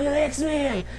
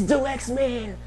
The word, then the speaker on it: Dalyxman: swear but um yes it's pronounced the lexman like the like The Lex man but slang the like duh like d xman like duh d xman That's how you say my name why is it like